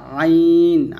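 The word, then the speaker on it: عين: হামজা, আর হচ্ছে আইন, আইনটা চাপ দিয়ে বলতে হবে।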